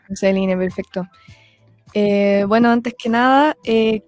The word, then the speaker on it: Diosceline: se pronuncia tu nombre bueno según el Castellano que es lo que nos rige yoseline sería yoseline perfecto Bueno antes que